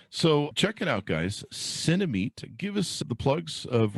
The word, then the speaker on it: Cinemeet: check it out guys cinemate give us the plugs of where people can order that on the internet yeah so it's uh cinema like cinema and meeting somebody cinemate c-i-n-e-m-e-e-t and you can search